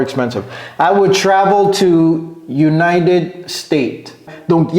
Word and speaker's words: United States: Ok, donc ici, United States, il y a S à la fin. United States, c'est comme ça que ça se prononce. Hein? Ne dites pas United. J'entends très souvent United States. United States. Non, c'est United States.